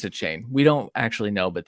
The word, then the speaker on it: Achane: is this the most polarizing guy devano uh a chain did I say it right yes yeah a chain we've we've messed that up on the football